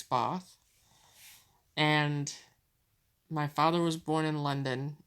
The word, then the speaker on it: Bath: born in bath though I have been corrected that I must never say it like that it's both and my father was